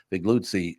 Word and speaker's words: Figliuzzi: Frank Figliuzzi, Figliuzzi. You know, I grew up Catholic, Frank, so I thought your name was pronounced Figliuzzi.